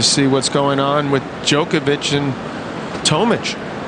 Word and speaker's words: Djokovic: It's going to be interesting to see what's going on with Jookovic and Tomic. Djokovic and Tomic. That's how I pronounce him.